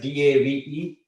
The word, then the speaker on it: Dev: But if it's pronounced as D-A-V-E, but it's spelled as D-E-V.